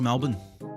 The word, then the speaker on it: Melbourne: It was either that or I was going to Melbourne is pronounced Melbourne. Melbourne.